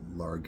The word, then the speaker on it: Largue: I had to look up the pronunciation on that, and according to Google, it says it's Stephen Largue is how you pronounce it.